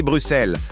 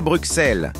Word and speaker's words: Bruxelles: On dit Bruxelles, on ne dit pas Bruxelles.